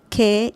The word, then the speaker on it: qué: Sometimes it doesn't need it when it's not in a question, and the pronunciation is the same. So don't worry about any difference. Que is que, with or without an accent mark.